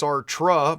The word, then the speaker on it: Sartre: It is pronounced S-A-R-T, although it is pronounced Sartre by many people.